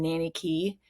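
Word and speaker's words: Nanny Cay: Where we stayed was in Nanny Key, and Key is spelled Cay, I think, but Nanny Key.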